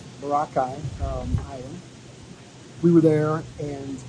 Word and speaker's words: Boracay: when we were in pookai Island you're pronouncing it like we did before we came here it's spelled Boracay Boracay um we were there